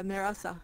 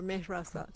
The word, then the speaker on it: Mehrasa: But, do I mispronounce your name? Mehrasa? Mehrasa? Yeah, that's correct. Yeah, Mehrasa. Yeah, or Mehrasa too.